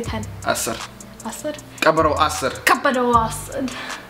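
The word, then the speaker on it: አስር: Asr.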